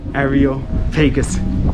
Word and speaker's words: Areopagus: Areopagus Hill, that's how you pronounce it.